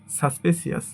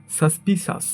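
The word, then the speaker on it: suspicious: এটাকে আমরা সাধারণত বলে থাকি সাসপেসিয়াস, বাট সঠিক উচ্চারণ হবে সাসপিসাস। সাসপিসাস, সাসপিসাস, সাসপিসাস।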